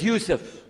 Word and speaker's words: Yusuf: alhamdulillah Alum my name is Yousef did you say Yousef you say Yousef you're